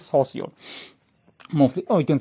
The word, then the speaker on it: Saussure: You can say it's like Saw Sure. This is the pronunciation, Saussure, not Saussure or something like that. It's Saussure.